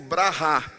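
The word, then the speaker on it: בְּרָכָה: A palavra bênção em hebraico a gente pronuncia como brahá.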